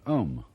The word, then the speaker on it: Om: That sound is used because if you spell it out a u m, it runs from the back of your throat to your lips and therefore it contains the whole range of the voice and for that reason